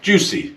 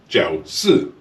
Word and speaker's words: Jiusi: This, believe it or not, is not pronounced Jiusi. This is actually pronounced Jiusi.